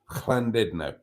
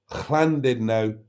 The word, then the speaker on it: Llandudno: Llandudno should be a little bit more guttural than it is. But in reality, it's not. Now, English people often pronounce it as Llandudno, which is just awful. But even the Welsh pronounce it as Llandudno because Llandudno it's too harsh.